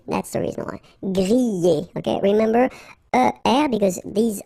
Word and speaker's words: griller: We've got so many exceptions, but in most of the cases, you will pronounce it y, y. Okay, griller. That's the reason why. Griller.